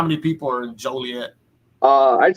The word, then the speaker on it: Joliet: do you say it uh it's i say joliet okay so uh where where where exactly is